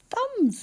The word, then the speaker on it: thumb: It was w a s a and thumb rhymes with crumb and in both of them we need to remember to write the letter b at the end.